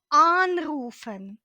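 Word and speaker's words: anrufen: Подивіться уважно на дієслово аруфен аруфен - це означає телефонувати комусь наголос падає на префікс тому ми кажемо unруфн по-третє більшість префіксів в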